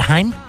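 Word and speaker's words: Chaim: Gene Simmons is Haim wits how do you pronounce that in the Jewish language in Israel CH a I am said Haim they buy some time with some anyone said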